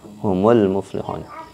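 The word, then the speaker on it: هم المفلحون: yang dibantu dengan dhomah contoh misalkan home home almuflihun asingkan home I'll move muflihun ketika disambungkan bacanya menjadi humul muflihuun jadi situ harokatnya harokat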